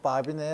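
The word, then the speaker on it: Babinet: 우리가 마비 원리라고 해요 프랑스 사람이라 끝에 티를 발음을 안 하고 바비네의 원리라고 해요 아주 재밌는 원리죠 이거 아주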